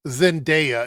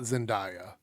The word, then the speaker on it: Zendaya: Zendaya, it's not Zendaya. You purposely mispronounce people's names when you don't like them.